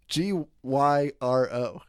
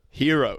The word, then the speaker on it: gyro: How do you pronounce that? Hero. Superhero, baby. What do you say? I typically will say gyro. I know it's wrong. I don't think that's wrong.